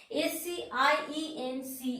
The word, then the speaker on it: science: You know, if the letter C is just, we are writing the letter C just before the I, E and Y. In that case, C is silent. That means letter science, S-C-I-E-N-C-E, science. That means letter C its position is just before the letter I, letter E or letter Y. Science. So, science. Letter C, we are not pronouncing letter C.